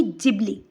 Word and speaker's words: Ghibli: गिबली style image जो है यानी कि जिबली जो जापानीज प्रोनाउंसिएशन है।